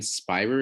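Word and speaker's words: Spierer: about right is this a woman named lauren spire is how you pronounce it s p p i e r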